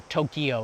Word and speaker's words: Tokyo: is one of them by the way there's two syllables for Tokyo it's Tokyo technically there's the city